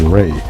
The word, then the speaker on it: Ra: of life and growth which is pronounced as Ray as in the ray of the Sun the reverse of the